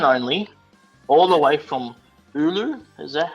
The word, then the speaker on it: Oulu: And by the way, it's pronounced Oulu. Oulu. Oulu. Thank you for It's that. a softer O.